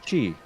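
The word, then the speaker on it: χ: and it is called Kingdom Hearts X, but it's pronounced Chi. Huh. I think it's a web browser game. Is it Kai, like the Greek letter?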